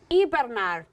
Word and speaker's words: hibernar: So the word hibernate is pronounced in Spanish hibernar.